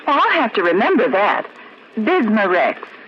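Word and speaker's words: Bisma-Rex: have to remember that bismar Rex is that how you say it that's right ma'am b i s m a hyphen reex bismar X ask for bismar X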